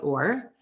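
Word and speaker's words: עור: of skin coat note ore right so phonetically the ore is the same but it's spelled differently right right so it's written with an iron um and it's but also pronounced or but it's translated as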